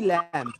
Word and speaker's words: lamb: हाँ, तो इसको लैम्ब बोलते हो कि लैम्ब बोलते हो? लैम्ब, यानी यहाँ पे बी साइलेंट है। अब बी क्यों साइलेंट है? क्योंकि बी से पहले एम आया है। तो ऑलवेज रिमेंबर, अगर बी से पहले एम आएगा तो बी को हम साइलेंट कर देंगे।